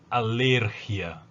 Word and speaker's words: alergia: En espanhol eu digo alergia, igualmente anemia, ¿no? Como no lleva tilde, como não tem acento no i, a tônica é a sílaba anterior.